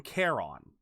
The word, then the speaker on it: Charon: All I know is that in Hades, the game Hades, they say it outright. They call him Charon. They like I said, they emphasize the O. They go Charon.